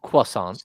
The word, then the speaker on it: croissant: french food a croissant or is it a Quant Quant is how you say that but uh but uh